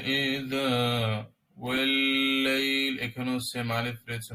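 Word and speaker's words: والليل: ওয়াল্লাইল ইযা, ওয়াল্লাইল, এখানেও সেম আলিফ রয়েছে, মনে হতে পারে ওয়া লাইলি, না, এটা আমাদের আলিফ না, এটা মূলত ওই আলিফ লাম একসাথে আসছে, এই কারণে এটা কি হবে, এখানে আলিফের উচ্চারণ না, ওয়াতে ডাইরেক্ট লাম লাগবে। লাম যেহেতু তাওয়াসসুত, মিডিয়াম ধরবো।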